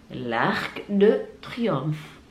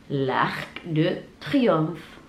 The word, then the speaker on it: Arc de Triomphe: La Tour Eiffel, la Tour Eiffel, la Tour Eiffel, les Champs-Élysées, les Champs-Élysées, les Champs-Élysées, l'Arc de Triomphe, l'Arc de Triomphe, Notre-Dame, Notre-Dame, Notre-Dame, le musée du Louvre, le